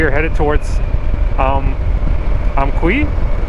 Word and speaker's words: Amqui: headed toward SPS um amqui yeah okay I pronouncing it wrong she helped me she corrected me but yeah we're headed towards amqui today we have from what